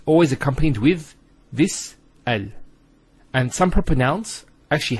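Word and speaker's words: ال: point is with the AL of deafness that the hamster Russell is always pronounced so it's always ah Al bait Al Tamar and so on it's never UL it's never ill it's always l another session Bismillah now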